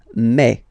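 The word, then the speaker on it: mai: And then you pronounce it me. Me. Okay. So don't pronounce e. Don't try to pronounce it. No, it's me. Me. So it's not my, it's me.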